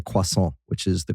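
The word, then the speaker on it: croissant: um my kids hate it that I say quason, which is the correct way to pronounce it.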